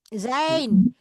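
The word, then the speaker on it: zijn: Zain Zain. Jadi I itu dibacanya I.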